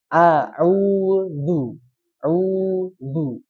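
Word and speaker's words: أعوذ: Qul auzu Nah, jadi di sini memanjangkan U-nya dulu. Memanjangkan U-nya dulu baru tarik. Jadi jangan langsung ditarik ya. Kecuali kalau langsung ditarik itu yang bertemu dengan dua domah secara langsung ya. Bertemu dengan dua domah secara langsung. Kalau ini harus dipanjangkan dulu. qul au udu. Nah, setelah panjang dua harakat baru dia tarik udu itu ya.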